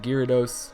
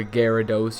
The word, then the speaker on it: Gyarados: we have a 1300 Gyarados or Gyarados you guys always get mad at me for how I pronounce it but I say Gyarados so I'm just going to call it that but we do have